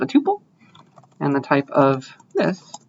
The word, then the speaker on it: tuple: This is how some people pronounce it tuple, other people pronounce it tuples. I pronounce it tuple because that's how I learned it.